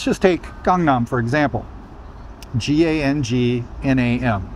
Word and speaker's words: Gangnam: Now, when I see that, I know it's Gangnam. That one doesn't trip me up. But if you don't know anything about Korean pronunciation, then when you see that, especially as a native English speaker, you're gonna say Gangnam. It's just, that's what it says.